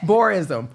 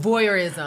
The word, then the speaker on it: voyeurism: boreism when people you outside and people can. Oh, voyeurism.